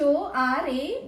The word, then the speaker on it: hora: with the word AA it is silent so it is written as h o r a but you'll read it at AA so the question what